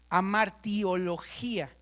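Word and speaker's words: Hamartiología: Amartiología, con H, con H. No es de amarte, ¿eh? No es de amartiología. Acento en la última I, ¿no?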